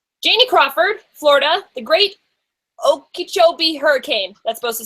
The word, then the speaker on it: Okeechobee: Janie Crawford, Florida, the Great Okeechobee Hurricane. That's supposed to say hurricane. As a Floridian, you did really great pronouncing that.